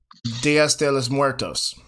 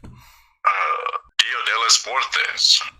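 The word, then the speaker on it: Día de los Muertos: It's Dia de los Muertos. Dias de los Muertos. No, you added a bunch of S's.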